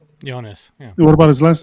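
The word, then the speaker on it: Joonas: Jonas. Yeah. What about his last name? Swatamo. Okay. I've always wondered how to pronounce that thing.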